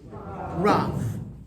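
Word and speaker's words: רב: So you have the resh, which makes a r sound. You have the below it. So together that makes ra. And then add a v sound. So together it makes rav.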